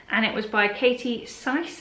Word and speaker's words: Sise: it was by Katie Sise, I think that's how you say it, S-I-S-E. And this was sort of like a murder mystery type book, and it was really good.